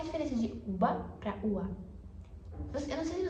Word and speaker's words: uva: Porque o B ele meio que desaparece. Vocês estão vendo? Ele não é nem B, é o V.